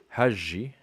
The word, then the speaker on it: حجي: And for the ja, he says ja as in rouge for female and ja as in jealous for male.